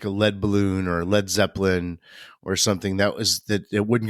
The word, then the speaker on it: Led Zeppelin: And then they actually spelled it LED so that it wouldn't be pronounced lead, because LEAD could be. That's smart. Yeah. So you definitely had to say Led Zeppelin.